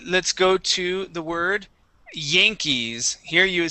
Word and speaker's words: Yankees: So the a sound right after what? Right after the Y makes a long a sound. It is yay. Yang. Yankees.